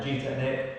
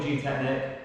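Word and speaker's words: Gtechniq: been using them or g technique i don't know how you say it some people say g technique some people say g technic it's probably g technic but loads of people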